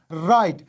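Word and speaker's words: write: صورت کې W نه تلفظ کیږي او R تلفظ کیږي. لکه right دلته له W نه وروسته R راغلی نو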